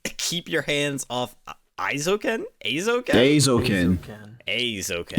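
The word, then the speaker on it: Aizouken: Aizoken. EI is pronounced A.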